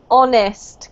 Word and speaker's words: honest: actually this is pronounced honest Carlos we don't pronounce the h and this is a